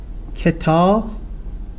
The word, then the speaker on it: kitabet: The first one is that there is a difference in spoken and written Persian. Here, as you see, we pronounce this kitabat, at. The ending is at. But in spoken Persian is it. So in spoken Persian it's pronounced kitabet. So a changes to a. The same with the third person singular. Kitabash, his or her book, changes to kitabesh. So kitabat, written. Kitabet, spoken. Kitabash, written form.